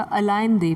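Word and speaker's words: Allende: उनका फोकस जो होता था अलाइन दे, प्रेसिडेंट का नाम है अलाइन दे, इसको पर्टिकुलरली अलाइन दे ही प्रोनाउंस करेंगे, ठीक है, अलाइन दे और आइन दे.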